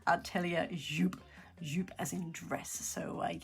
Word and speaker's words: Atelier Jupe: is the Julia sweater by ellia yup yup jup is it jup ellia jup all right so I actually looked this one up because it was bothering me it's actually pronounced ellia yup yup as in dress so yeah got it